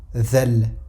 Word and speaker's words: Dhal: si on venait faire sortir plus la langue. Donc on dira The, comme ceci. Dhal, The. Et non pas The, parce que ça c'est une autre lettre, mais on dira Dhal.